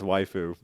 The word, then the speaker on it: waifu: was it's not waifu is it waifu yeah it's waifu like wife like Uncle yeah like